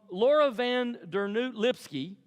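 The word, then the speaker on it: Laura van Dernoot Lipsky: angry time so um Laura van der new lipsky I'm so proud of myself that I pronounced that right she is the founder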